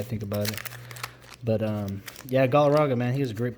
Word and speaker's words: Galarraga: When I was a kid, I didn't know how to say his name, so I used to say Galarraga.